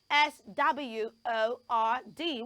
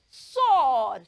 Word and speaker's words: sword: time very good so we do not say sword it has a silent W so we will not say the W sound we will only